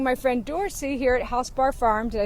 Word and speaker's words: HausBar: today we're visiting my friend dorsy here at housebar Farm did I say it right you said